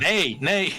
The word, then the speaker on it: neigh: I can't even pronounce it. Nay, yeah.